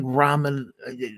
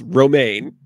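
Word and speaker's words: Romijn: John Cho Wil Wheaton Rebecca Raman not ramen noodles romaine Oh is no how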